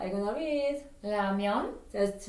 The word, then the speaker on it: 라면: I know when you go to store, they spell R. But I will never say R sound in Korean, says with ramen, ramen, ramen. 라면.